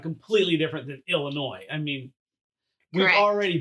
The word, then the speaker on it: Illinois: I grew up in Illinois, not Illinois, okay? Which right. I know it's like, well, it's French, the S is silent.